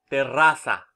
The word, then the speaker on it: terraza: It could be terraza, for example. Okay? The stress is in the second syllable.